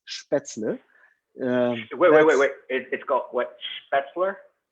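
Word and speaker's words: Spätzle: we will have spaetzle so the correct pronunciation is spaetzle it got wet that's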